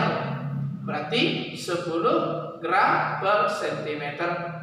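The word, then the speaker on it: ρ: Ingat ya, bacanya rho.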